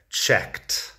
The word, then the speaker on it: checked: otras cosas, el pasado checked y el participio pasado checked. La pronunciación es un poco complicada porque tienes que pronunciar la K y luego el sonido de la T. Después, checked.